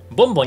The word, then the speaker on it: BON: マイクきいもんえボンだってのこの読み方 B じゃない大丈夫どっちもボンやなんでも